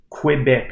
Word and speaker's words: Québec: Et là, on va voir la prononciation de Québec, en fait, parce que les anglophones ou les Anglais ne sont pas capables de dire Québec. Ils peuvent juste dire Québec.